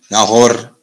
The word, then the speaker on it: Nahor: So there we see Abram or Abram, Nahor, and Haran. That is the correct pronunciation for those.